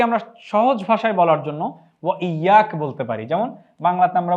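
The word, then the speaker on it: وإياك: এই শব্দটির আরবি হচ্ছে ওয়া ইয়াক, এটির উচ্চারণ আমরা এখানে দিয়ে দিয়েছি ওয়া ইয়াকা।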